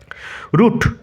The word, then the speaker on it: route: রুট, বানান উচ্চারণ লক্ষ্য করো, ROUTE।